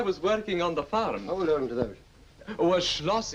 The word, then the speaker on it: Schloss: working on the farm Schloss is how you say a castle I actually got a